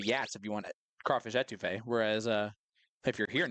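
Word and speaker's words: étouffée: Will pronounced it a toffee yesterday, and I almost went insane.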